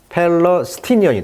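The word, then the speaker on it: Palestinian: 강세가 지금 삼음절인가 있단 말이에요. 그러니까 팔레스티니언이 됩니다.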